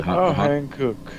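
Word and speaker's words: 한국: you say well Korean word for Korea is hanuk. You see Chris you've seen those tires. You know those tires don't you? The hankuk.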